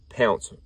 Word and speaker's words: Pounce: Pounce, I'm pretty sure, is the way they pronounce it.